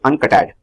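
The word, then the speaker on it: UNCTAD: Organization then comes the next important it's the uncut ad we pronounce it un ce t he D uncut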